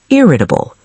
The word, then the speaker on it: irritable: The fourth word is irritable. Irritable. 4 syllables, stress on the first.